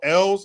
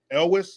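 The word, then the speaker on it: Elwes: Freeman Matthew Broderick uh Carl Ells is how you say that guy's name the guy that played Wesley on um Princess Bride As You Wish else how do you say that guy's last name because it's e-l-w-e-s Elvis I doubt that so anyway that guy's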